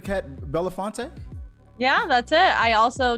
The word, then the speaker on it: Belinfante: Miss Kat, am I saying it correctly, Kat Belinfante?